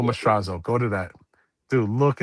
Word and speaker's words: Mastrazo: It's not Mostrad. It's ma like m a um Marco Mstrazo.